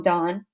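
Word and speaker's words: Donne: uh by John Dawn some people Miss pronounce his name John Don it's John Don um he's a pretty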